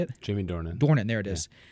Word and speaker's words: Jamie Dornan: and that's the actual guy he's played by Jimmy Dorian Jordan Jordan how do you say it Jamie Dornan born in there it is and you said